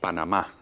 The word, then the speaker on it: Panamá: So I think we should put an accent on that last syllable on the A. Panamá.